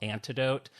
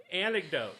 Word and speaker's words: anecdote: Antidote. I never say that word right. Okay, this goes in the pile of words I can't say. Well, how do you say it? Oh, antid this antid. It's not antidote. Ant anecdote. Anecdote. Is that right?